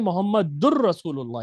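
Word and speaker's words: محمد رسول الله: हालांकि यहां पर असल जो प्रोनाउंसिएशन है वो है मोहम्मदुर रसूल्लाह। यहां पर एक शद है लेकिन इन्होंने वो शद अभी नहीं डाली क्योंकि वो कायदा इन्होंने अभी आपको नहीं पढ़ाया।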